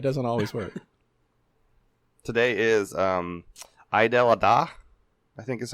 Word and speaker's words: Eid al-Adha: I actually listened to videos to try and make sure I pronounced it correctly, but that E is hard for English speakers, I think. That E, E-I-D, Eid al-Adha.